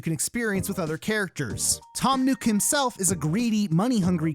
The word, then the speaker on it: Tom Nook: to address this but his name is pronounced tom nuke and not tom nook the game does not